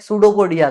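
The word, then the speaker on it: pseudopodia: पी is just like सूडोपोडिया का पी। सूडोपोडिया में P silent होता है।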